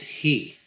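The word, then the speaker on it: היא: The Hebrew word for she is pronounced he. In this case, the word is read as it is feminine, but in reality, it is spelled with, as if it were masculine, who, again, with a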